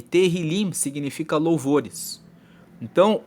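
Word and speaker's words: Tehilim: se escreve te ilim com H mas se pronuncia terril liim e teril liim significa louvores então o livro dos Salmos ele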